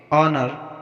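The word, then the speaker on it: honour: ऑनर, यहाँ पर भी ओ से पहले एच आया है तो एच का उच्चारण नहीं होगा, इसको ऑनर पढ़ेंगे।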